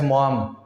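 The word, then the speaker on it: Maugham: Pronunciation को लेकर के मॉम में थोड़ा दिक्कत है। कुछ लड़के कुछ स्टूडेंट माघम पढ़ते हैं, लेकिन मॉम पढ़ेंगे W.S. मॉम।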